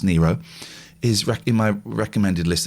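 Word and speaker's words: Nyro: here's the thing laura nero's and it is pronounced nero is in my recommended list this week and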